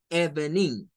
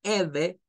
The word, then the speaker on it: Evening: esto como Good Evening Porque si usted dice Eve está leyendo en español y ese es un graso error esto usted lo tiene que leer como una sílaba esta no suena está eh Por eso no la marqué porque es muda no suena vamos a irnos